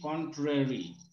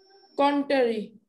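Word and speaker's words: contrary: অন দ্য কন্ট্রারি, বিপরীত ক্রমে, এটা উচ্চারণটা তোমার ভুল ছিল, উচ্চারণটা কি কন্ট্রারি, বিপরীত ক্রমে।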